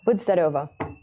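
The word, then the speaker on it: Будьте здоровы: It's like Budzdarova. It's not Nazdarovia, it's Budzdarova.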